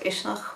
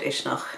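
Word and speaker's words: Uisneach: as a fire Festival in a place called ishnach which is right at the center of Ireland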